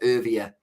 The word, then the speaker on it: Erwee: That is how Grant Elliott pronounced it. And he is South African, so I will trust him. So it's Erwee for that one.